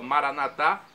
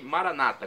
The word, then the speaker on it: Maranata: do aramaico Eu Clamo Maranata significa fim de Senhor Jesus com a tônica na última sílaba Maranata é a pronúncia católica os nossos irmãos separados evangélicos ou protestantes dizem Maranata com a tônica na penúltima sílaba não importa a pronúncia o significado é o mesmo Vem Senhor vinde Senhor